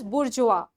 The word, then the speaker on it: bourgeois: Okay, you pronounce it as bourgeois.